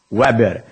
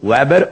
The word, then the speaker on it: Weber: de de fluxo magnético Weber representado pelas letras WB Weber ou Weber também as duas pronúncias são utilizadas Ok olhem lá olhem